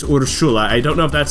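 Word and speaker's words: Urszula: spelled like this but urshula is uh somewhat common polish name and the way that they say it is urshula I don't know if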